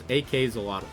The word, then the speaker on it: AK-xolotl: So like axolotl, but with AK like AK-47. AK-47, axolotl. I believe it is AK-xolotl. That's how it's pronounced.